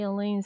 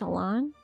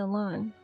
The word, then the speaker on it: Alain: Isn't it pronounced Alan? This is where I first met Alain or for a time afterwards.